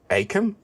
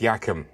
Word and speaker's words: Achim: pent up frustration which did you shout Achim or Akim if so you're wrong it's pronounced yakum why I have absolutely no idea next what about this